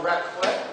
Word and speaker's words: raclette: And this is a raclette, am I pronouncing it correctly?